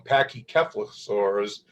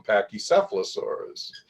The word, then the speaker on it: pachycephalosaurus: things differently you know my british colleagues and my american colleagues pronounce a number of names differently you know the dome-headed dinosaurs they call them pachycephalosaurus in the u.s we call them pachycephalosaurus you know it's just